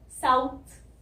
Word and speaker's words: south: Pronunciation क्या होती है, साउथ की साइड प्रोनाउंसिएशन में सा आता है पहले तो, सा, और फिर छोटी ऊ की साउंड, छोटा छोटा ऊ होता है ना हिंदी में, साउथ, और फिर थ, थ, तो इसको ऐसे प्रोनाउंस करना है, साउथ।